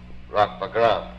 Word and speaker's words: Wagram: Now I'll try to read a little more from the novel called Rock Wagram, which of course should be pronounced Rock Wagram, being an English or American variant of the name Arak Wagramian.